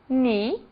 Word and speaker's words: knee: As letras G e K não são pronunciadas quando seguidas da letra N. Apenas o N é pronunciado. Então, nós temos agora alguns exemplos. Not, que é nó, knee, que é joelho.